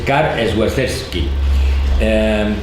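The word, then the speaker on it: Karol Świerczewski: Su verdadero nombre, pero ahora la pronunciación porque es en polaco, es Karl Swerczewski.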